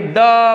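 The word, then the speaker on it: the: ना, तो फिर ये द बोलता है, थोड़ा जोर दे करके, लंबा वाला, द बेस्ट, द लॉन्गेस्ट। तो इस तरह से इसके क्या हैं, ये उच्चारण है इसका दी का।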